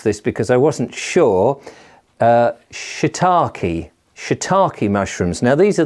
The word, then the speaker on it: shiitake: And the other one is, now I had to take advice on how you pronounce this because I wasn't sure, shiitake.